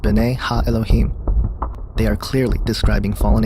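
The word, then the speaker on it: בני האלהים: The sons of God mentioned here in the Hebrew is pronounced B'nai Ha-Elohim.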